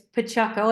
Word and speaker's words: Paciocco: name is as you said great um pronunciation of my last name so thank you it's Pacho I know it's a difficult one we we